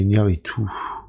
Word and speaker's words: Iñárritu: Alors à la réalisation, alors excusez-moi pour la prononciation, on retrouve Alejandro González Iñárritu, je sais pas si je prononce bien, Ouais, c'est Iñárritu.